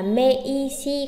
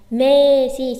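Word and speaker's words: めいし: Chúng ta không đọc là me, y, si. Không đọc là mây, si. Mà chúng ta sẽ đọc là me, si. Chỉ kéo dài chữ me thôi.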